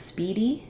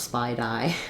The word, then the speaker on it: speedy: have the reduce vowel Speedy the stress is on the first syllable speed and we have the e sound so actually I would